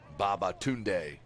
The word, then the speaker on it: Babatunde: And it's Utham Babatunde. Correct pronunciation.